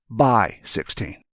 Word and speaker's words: x16: However, the x is pronounced as by. So x16 would be, by 16.